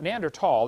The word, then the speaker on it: Neanderthal: know the neander th neander tall the H is silent neander tall man is